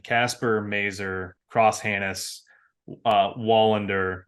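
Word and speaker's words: Wallinder: Mazer cross handis uh Wallander or volender if you will edvinson Johansson I think yo that's how they say it Greg don't give me that no I I will not valinder I will win going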